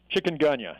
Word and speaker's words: chikungunya: how do you say the name of it Chikungunya and and that chicken gunha is a African name it comes from the